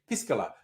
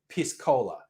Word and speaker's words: piscola: throw it out here careful how you pronounce it i'm being very careful to say piscola because i don't think you want to call your drink with cola piss cola not good marketing not good marketing is